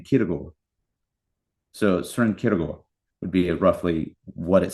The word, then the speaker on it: Kierkegaard: Sren, and then if you hear it pronounced sort of like phonetically, it sounds like Kierkegaard. Right, like the AARD is more like an or type sound.